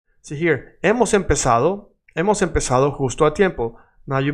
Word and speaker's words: empezado: See here, hemos empezado, hemos empezado justo a tiempo. Now you might be thinking there is the letter Z, Z, and you are saying sa like an S, because in Latin America